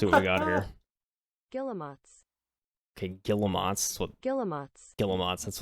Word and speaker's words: Guillemot: pronounce. All right, let's see. Let's see what we got here. Guillemots. Okay, Guillemots.